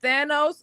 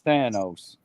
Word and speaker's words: Thanos: Is it Is it Thanos or Thanos? It's Thanos. Don't tell Cass that.